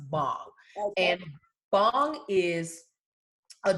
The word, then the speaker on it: bhang: It's actually pronounced bong.